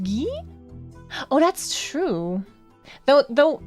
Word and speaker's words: Guy: Guy as a named is pronounced ghee.